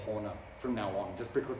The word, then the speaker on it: Horna: of all time and that is Horna I think that's the Finnish way to pronounce it which means hell or Abyss but um you can imagine like that's the Finnish pronunciation Finnish is a difficult